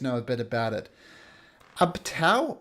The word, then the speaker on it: Ubtao: Ubtao, or Obteo, as it's sometimes pronounced, is the god of the jungle.